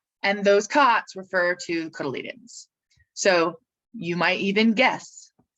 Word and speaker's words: cotyledon: and the eudicots is the number of cotyledons cotyledons or embryonic leaves and that if you uh